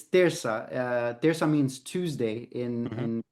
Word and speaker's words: Terça: The one thing that I'll tell you is that some people mispronounce the name of the band. They'll say Turca or Turca, and it's Terça.